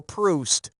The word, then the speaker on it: Proust: The Frenchman who wrote Remembrance of Things Past was Marcel Proust. As in, when I'm juiced and need a boost to get goosed, I read Proust.